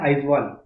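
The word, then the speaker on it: Aizawl: आगर तला और यहां पर मिजोरम मिजोरम का आवाल ठीक है ए आई जड डब्लू ए एल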